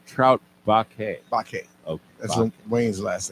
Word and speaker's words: Baquet: Bakke.